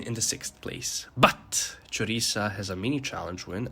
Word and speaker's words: Choriza: right like okay sure maybe the th is not something that comes naturally to you i know i struggle with it sometimes but then just say choriza i really enjoy during